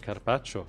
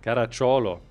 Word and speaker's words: Caracciolo: Carpaccio? Caracciolo. Caracciolo, das spricht man genauso aus.